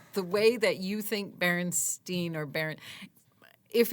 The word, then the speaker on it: Berenstain: Their name is Berenstein, stain like wood stain.